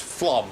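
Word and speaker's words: Flåm: No, it is not Flom. And in case anyone is reading that Facebook feed, that says Flam, but no, it's pronounced Flom, I'll have you know.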